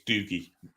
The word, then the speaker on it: Dougie: yeah not bad at all doie doie is pronounced not dogie we're call him dogie it's doogy you Scotsman Scots duges are well known as